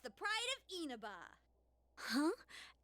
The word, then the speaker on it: Inaba: It's not Inaba, it's Inaba. It would help if they